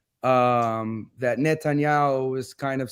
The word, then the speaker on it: Netanyahu: And then, as you can see, Netanyahu, that's how you say his name right, he basically is happy that the Assad regime fell.